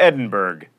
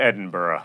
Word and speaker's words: Edinburgh: the epitome of mispronunciation you don't go to Edinburg you go to Edinburgh it's not eal it's